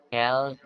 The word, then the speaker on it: quelles: Kel. Dan teman-teman ya, ini cara bacanya sama. Kel.